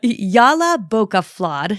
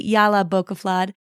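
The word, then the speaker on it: Jólabókaflóð: So there are a lot of very opinionated people online adamant that the word is pronounced one way or another, but Jolabokaflod seems to be the consensus, so I'm going to use that here.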